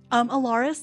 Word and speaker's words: Elaerys: Alaris, that's spelled Elaerys.